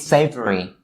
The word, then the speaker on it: savory: Just a quick note upon these words' pronunciation, that you shouldn't turn the V sound in these words into an F sound and say savory or safer, right?